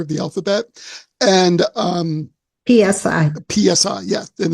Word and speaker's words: psi: And when I say psi, it's the Greek letter psi, the 23rd letter of the alphabet, and PSI. PSI, yeah, and it's pronounced psi.